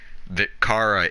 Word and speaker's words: Chara: Some people see it like Chara for some reason, but I actually say that because I saw somewhere that Kara is a name that exists and it's pronounced hard C.